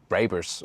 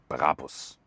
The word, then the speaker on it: Brabus: It's not Brabus or something. The original German pronunciation would be Brabus. Really hard German pronunciation.